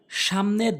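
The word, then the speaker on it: ث: এরপরে হচ্ছে সা সা, অর্থাৎ জিহ্বার আগাটা সামনে 2টি দাঁতের আগাতে লাগাবেন।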